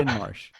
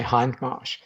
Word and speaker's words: Hindmarsh: the whole time i always thought it was in marsh i i was going to correct you at the beginning you know i thought it's funny americans pronounce it hidden marsh now brits and australians automatically say hindmarsh and in my personal details on amazon i